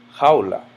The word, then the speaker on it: jaula: For example, jaula ends in a vowel. I know that the natural stress goes here. Jaula.